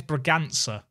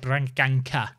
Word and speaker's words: Braganza: You still said it wrong. What? His name's Braganza. Yes, what I said. You said Branganka.